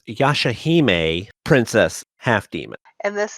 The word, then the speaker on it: Yashahime: we're back with the yashimi princess half game and i probably slaughtered that i'll let kirito take care of that later yeah guys this is kirito silverheart and it's pronounced yashahime princess half demon and